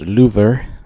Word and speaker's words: Louvre: It starts at the Louvre, which is pronounced Louvre, as the French people told me when I went there.